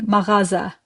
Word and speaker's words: mağaza: For today we are learning maraza. You see how I pronounce sound. It's a guttural sound. You don't skip it. You got to do it.